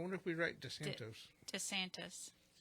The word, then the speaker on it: DeSantis: DeSantos? I wonder if we write DeSantos. DeSantis. Is it? That's how you pronounce it? DeSantis, yeah.